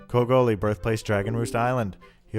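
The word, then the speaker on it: Kogoli: reason whatsoever COGO li i previously called him co golly and ordinarily I would print correct the pronunciation and apologize to him but I hate him so I don't care Co goalie birthplace dragon roost Island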